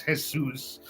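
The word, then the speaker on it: Jesús: not when they say they're not saying Jesus they're saying Jesus all right um it's spelled the same way my name is hesus it's a very common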